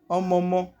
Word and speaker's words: omomo: Omomo. You can hear the O sound as I'm pronouncing the word omomo. The last but certainly not